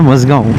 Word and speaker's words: Mazgaon: वो जगह का नाम है मजगांव, MAZGAON, सेम स्पेलिंग जो अपने बॉम्बे में मजगांव है ना, सेम स्पेलिंग मजगांव।